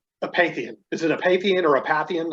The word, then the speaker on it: Apathian: Is it Apathian or Apathian?